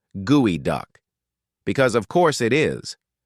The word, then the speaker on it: geoduck: And despite the spelling, it's not pronounced geod duck. It's pronounced gooey duck because of course it is.